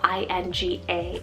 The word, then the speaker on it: Inga: or marvelous shorter option we have inga spell i-n-g-a inga this one's norse rooted meaning guarded by ing i hope i'm pronouncing that right but ing was an ancient